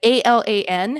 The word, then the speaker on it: Alan: I still trip on that name, like ALAN. How do you pronounce that? Alan, but I'm British, so it's all flat. We don't add R's and Y's when we get bored.